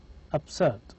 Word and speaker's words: absurd: is written with a b but it is pronounced with p absurd absurd in arabic we have accept we write